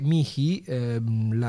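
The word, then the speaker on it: mihi: vocate mi medicum avvocati ricordate che mii quell'acca in realtà non si pronuncia è praticamente una parola con una sillaba sola e comunque si può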